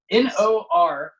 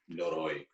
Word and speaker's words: Noroi: Noroi? Noro? Noroi. Noroi.